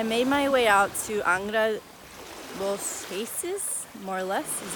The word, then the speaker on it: Angra dos Reis: So I made my way out to Angra dos Reis, more or less is how you say it, which is farther down the coast, heading south.